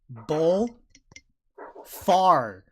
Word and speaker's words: Bullfar: Spell it. Bull. Far.